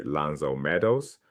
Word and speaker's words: L'Anse aux Meadows: At a site called L'Anse aux Meadows in Newfoundland pronounced roughly 'Lanz oh Meadows' archaeologists uncovered unmistakable Viking structures.